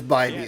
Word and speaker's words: Bybee: It is Bybee, okay. I always get thrown off because Jake Storielli on Talking Baseball pronounces it like it's a vibe.